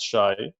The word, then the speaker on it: Shay: My name is pronounced Shai, although I spell it like Shay.